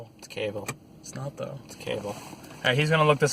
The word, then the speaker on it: Cavill: Someone pronounces him Carville or Cavill or something like that every time I watch reviews with anything in him. So. Well, there is no R, so.